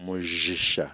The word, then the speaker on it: Mujisha: No, it has a different pronunciation, which really? Is Mujisha, because J is a J, not J.